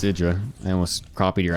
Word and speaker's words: IdrA: It's Idra, yes. Yeah, that was always the meme that fucking Artosis just always called him Hydra, but that's not how you say it at all.